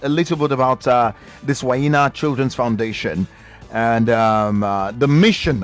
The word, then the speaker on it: Whanyinna: Yeah, because I was going to use Oyibo pronunciation before I say Whanyinna, but it's Whanyinna Children Foundation and Makoko.